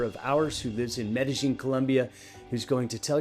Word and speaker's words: Medellín: I'm the president at Passion Life, and we're also joined today by Anderson Ocampo, who is joining us from Medellín, Colombia. Did I pronounce that correct?